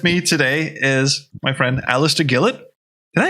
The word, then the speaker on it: Alistair Gillett: and uh with me today is my friend alistair gillett did i say that right yeah you pronounce the word you have to have to